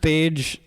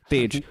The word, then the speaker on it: Tej: Hey guys, my name is Tej. Yeah. For future reference, if you want to say my name, it's like pages in a book, but with a T. Tej.